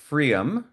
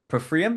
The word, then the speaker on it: pFriem: And today we have Rudy Kellner from pFriem. pFriem? It's no, you don't say the P, right? No, it's Freem, rhymes with dream.